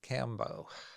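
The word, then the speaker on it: Kambo: So, So you eventually ended up working with Cambo, yes, or combo. Uh-huh. or Yeah, you could so it's say it either pronounced way. combo. Yeah, it's usually pronounced combo, but Cambo's Okay.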